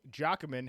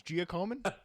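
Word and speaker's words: Giacomin: total wins did eddie jockoman have while playing with the rangers wait are you sure about that pronunciation no i i think it's giacoman eddie giacoma how are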